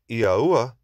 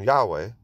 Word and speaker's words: Yahuah: So the yod is pronounced as e, the he is pronounced as a, the vav is pronounced as u, and the he is pronounced as a. Therefore, the pronunciation is Yahuah or Yahuah. To ignore the a at the end is a disservice, as is found in the pronunciation Yahweh, as the a is the breath of the Father within his own name.